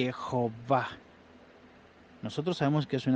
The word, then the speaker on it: Jehová: Yud, Hei, Vav, Hei, que se puede pronunciar gramaticalmente correcto de acuerdo a las evidencias que hay en los manuscritos, de un total de más de 1750 manuscritos masoréticos y no masoréticos, que pronuncian el nombre como Jehová.